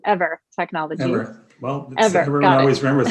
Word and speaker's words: Eivor: Yeah, we're pronounced ever as an energy forever. Everyone makes the same mistake.